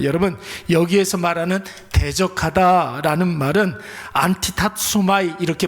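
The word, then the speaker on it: ἀντιτάσσομαι: 여러분 여기에서 말하는 대적하다라는 말은 안티타소마이 이렇게 발음을 해요. 굉장히 발음이 어려운데 제가 이거 한 50번 했는데 아직도 입에 붙지 않아요. 안티타소마이 이렇게 발음을 합니다.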